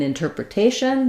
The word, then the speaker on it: interpretation: thing flap um and in interpretation that's where we have a a change so interpreter um we use a flap T in interpretation it follows the rule that we stress the syllable before the shun and so now this T is in the stress syllable so now we have a t so same thing interpr